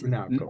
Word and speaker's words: Polimenakos: pronounced it That correctly? is pretty good, Mark. Yeah. Polimenakos. Polymenakos. Yeah. It's Polimenakos.